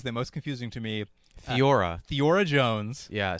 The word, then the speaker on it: Theora: Theora. Theora Jones. Yeah, so it's spelled Theora, not Thora, Theora.